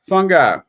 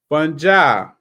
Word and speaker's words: fungi: some days it's fungi some days it's funi but I'm looking at the pronunciation in the book all right funja singular fungus are single